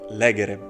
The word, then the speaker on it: legere: we have the verb legere the theme vowel is short therefore you have to read it legere if you read it